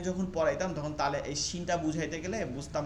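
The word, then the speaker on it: شين: Scene, শিন, হ্যাঁ, শিনে আরো বাতাস হবে, শি, শিন।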